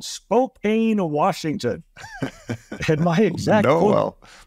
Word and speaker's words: Spokane: But then I got up here and learned, first of all, it's pronounced Spokane.